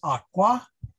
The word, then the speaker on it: aqua: so the ablative of the word aqua is aqua with a long a so the women ate